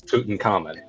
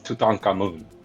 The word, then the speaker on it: Tutankhamun: pronounce Tutankhamun. It's Tutankhamun.